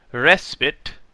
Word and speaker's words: respite: It informs announcers that pristine rhymes with wine, respite is pronounced as if there were no E, combat is what you do when you fight with someone.